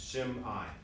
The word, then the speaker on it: Shimei: One way to remember how to pronounce it is it's after the M, if you put like an apostrophe, it's Shimei is the way to pronounce that name.